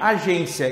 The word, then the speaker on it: agência: Os acentos gráficos empregados em agência e em saúde têm a mesma justificativa. Vamos lá. Razão da acentuação gráfica em agência. Agência é uma paroxítona, porque a penúltima sílaba é tônica, terminada em ditongo, ou seja, a regra é essa aqui.